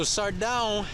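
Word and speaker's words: Sardão: cabo sardaun s-a-r-d-a-o so sardaun is pronounced similar to the word bone when i talked about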